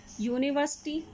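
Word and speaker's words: university: यूनिवर्सिटी, जो first letter है वो यू है, लेकिन जो इंग्लिश का वोवल लेटर है लेकिन जब हम इसको प्रोनाउंस करते हैं तो क्या आया हुआ है, यू, तो इसलिए इसके साथ क्या आया, आ।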